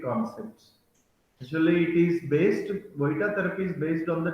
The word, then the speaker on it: Vojta: Though it is spelled as Vojita therapy, but it is pronounced as Voita therapy.